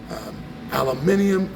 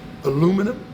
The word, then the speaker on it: aluminium: We know that if it's metals, aluminium, I think the Americans say aluminum, is that right?